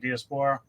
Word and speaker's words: Diaspora: Did I pronounce that right, Diaspora?